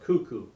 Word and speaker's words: Kaku: That's pronounced cuckoo. Cuckoo. Okay. Cuckoo. Pronounced cuckoo, okay?